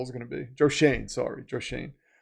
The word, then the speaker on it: Schoen: They're gonna be like Joe Schoen is gonna be in the Giants front offices, just doing nothing. It's John Harbaugh's. I might have to make a skit about this. What Joe Schoen's new role is going to be.